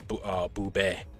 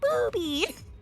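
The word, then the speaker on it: ブビィ: It probably would be pronounced Boobé. No, I've seen clips from the anime. He literally just goes, Booby.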